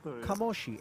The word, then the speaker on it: Kamoshi: one Claudio De Marzo, who says it is indeed pronounced Kamoshi.